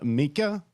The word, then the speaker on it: Mika: We've got an early one for Mika. Rhymes with Sneaker.